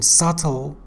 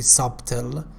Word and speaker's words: subtle: B in subtle is not pronounced. We don't say subtle.